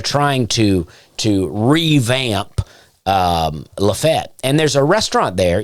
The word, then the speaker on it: Lafayette: dad lives outside of this town called lefet spelled Lafayette uh pronounced lefet and uh a friend